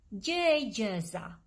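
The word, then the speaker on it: gjëegjëza: do we say riddle in albanian we say j jazza j jazza i know it's a little difficult to pronounce it but just try j j jazza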